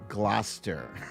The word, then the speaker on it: Gloucester: stephaniel says it's pronounced gloucester i knew it like like worcester right worcester gloucester why they have to add these extra letters that are all silent anyway um i am told